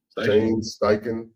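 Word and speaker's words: Steichen: uh excuse me uh if I pronounce his name wrong but uh can you say that again for me sty Shane Sten Sten okay yeah so can Shane siken build upon last year's Success With The Return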